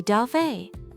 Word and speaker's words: dove: We say dove. Yes, listen closely to the pronunciation of that V sound.